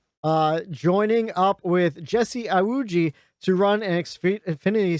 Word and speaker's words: Iwuji: a team owner jesse yawuji am i saying that name wrong no yes you are it's jessie you were close close it was close i put the wrong